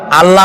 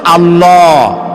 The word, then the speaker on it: আল্লাহ: আল্লাহর নাম আল্লাহ বলেন তো আল্লাহ নয় কিন্তু আল্লাহ হচ্ছে অশুদ্ধ শুদ্ধ হচ্ছে আল্লাহ বলার সময় মুখটা গোল হয়ে যাবে বলেন তো সবাই উচ্চারণ করেন আল্লাহ আবার বলেন আল্লাহ আবার বলেন